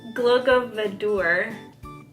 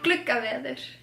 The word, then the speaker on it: Gluggaveður: Glogovadur. The D, it's not actually a D. Oh, that's why it has that little line on it? Yeah. Gluggaveður.